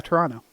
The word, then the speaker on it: Toronto: There's barely one T in Toronto. Okay? Yeah, Toronto.